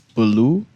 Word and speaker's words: Belu: Coincidentally, he's named by the Blue Hill Road, not Blue Hill Road, BLUE, but Belu. Mr. Belu. Okay. That's how you pronounce it, right? It's Baloo. Belu. Baloo.